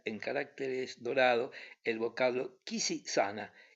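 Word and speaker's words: Quisisana: Sobre la puerta se leía en caracteres dorados el vocablo Kisi-sana, y en toda la ciudad era conocida la casita bajo este nombre, que la gente solía pronunciar con una S débil y una A sonora.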